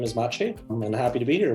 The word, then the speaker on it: Maciej: I go by my real name is Machi I'm happy to be here with you Lisa